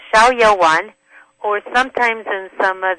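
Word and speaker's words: Xiao Yao Wan: It's called Shiao Yaoan, which is X I A O and then Y A O W A N. It's called Shiaoan.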